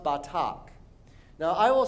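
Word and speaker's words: בטח: Now, the verb to trust in Hebrew is pronounced batak. Now, I will say it first, and then you repeat after me. Batak.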